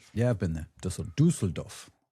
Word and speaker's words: Düsseldorf: Dusseldoff. How do you pronounce it in German? Dusseldoff. Dusseldoff.